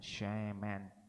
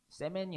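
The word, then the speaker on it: שֶׁמֶן: 쉐멘, 여이 발음의 쉐에 맨, 어이 발음의 맨, 쉐멘이라고 하는 이 히브리어 쉐멘이 가리키는 뜻은요, 바로 관유를 의미합니다. 관유 땡땡, 그러니까 이 꼴이 있죠. 은 있잖아요. 관유는 히 쉼표하고 쉐멘, 세멘이 아니라 쉐멘이라고 적어두시면 성경을 읽으실 때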